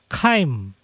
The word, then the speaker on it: chyme: So sekarang di dalam perut kamu makanan sudah menjadi separah cecair, dan sekarang dia disebut sebagai chyme. I know it's spelled Kim, tapi you're supposed to spell chyme.